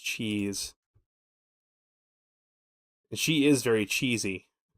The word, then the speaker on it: Chiz: Cheese. It's CHIZ. Her name is pronounced Cheese.